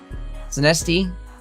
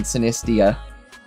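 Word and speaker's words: Sinistea: Sinesti? Poltegeist and Sinesti, I think it's pronounced. Sinesti and Poltegeist. I believe I was saying it wrong yesterday. I think I was saying Sinestia.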